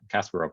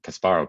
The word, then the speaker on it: Kasparov: these things called uh casper of modules um i think kasparov module is actually the correct correct pronunciation which is a triple